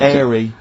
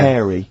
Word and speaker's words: hairy: H, or the H, or however it's I pronounced. had to, 'cause So it- airy, airy obviously kids, mean yeah. hairy.